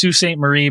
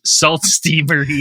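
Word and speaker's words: Sault Ste. Marie: of that like yeah if you're French it's suain Marie but if you're English it's salt Marie I mean Dan wouldn't be the first American to be like it's salt stay Marie is that is that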